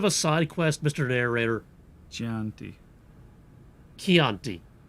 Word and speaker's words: Chianti: Chianti. Chianti. It's Italian. The CH is pronounced as a K.